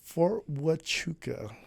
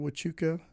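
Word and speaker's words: Huachuca: Uh, Fort Wuka. All right. Spelled with the Indian pronunciation with a H. Wuka.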